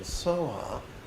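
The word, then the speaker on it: svāhā: You know, take the Sanskrit word swaha and use the Tibetan pronunciation soha.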